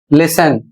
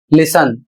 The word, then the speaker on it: listen: के बीच आता है तब टी अक्षर साइलेंट रहता है। अर्थात टी को नहीं बोलना है। जैसे यहां पर देखिए यहां शब्द है लिसन। स्पेलिंग है एल आई एस टी ई एन और इसे पढ़ा जाएगा लिसन। इसको बहुत से लोग लिसन पढ़ते हैं। जबकि गलत है। इसे आपको पढ़ना है लिसन।